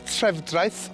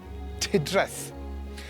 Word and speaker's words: Trefdraeth: All you have to do is listen to the way they pronounce the name of the town, because although it's Trefdraeth on the signs, they call it Tuddraeth.